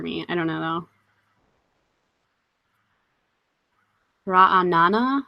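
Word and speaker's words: Ra'anana: I don't know though ra Anana says so the the stress is on the end raana I think I have a tendency to stress the second syllable oh no rabby I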